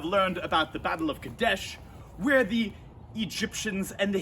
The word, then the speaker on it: Kadesh: name wrong just remember it kinda sounds like croquet right not cadet not croquet but it is kadesh good dash all right